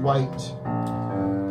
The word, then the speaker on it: Wight: man the Isle of Wight I don't know what that is the Isle of Wight although i think it's Isle of Wight I think it's spelled white instead of white but I can't say